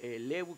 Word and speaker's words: Lew: de odesa El liev en realidad quiere decir levu quiere decir lev se pronuncia y quiere decir León un animal de